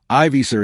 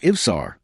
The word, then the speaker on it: Ivsar: Arthur bows sarcastically to Frath and deliberately mispronounces his last name, calling him Ivisar instead of Ivsar, making it sound like mockery.